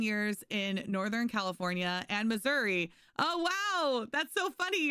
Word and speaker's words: Missouri: Outlaw's like, it's pronounced Missouri. I'm sorry. In Missouri. Oh my gosh. Yeah. It's too hot. It's too hot. So yeah, no, misery is how it's pronounced. There's misery in Missouri.